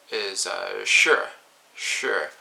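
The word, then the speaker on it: sjø: Something like the word C in Norwegian is sure, and that is S-J. And so it doesn't have the K there, but you're still pronouncing it as though it is.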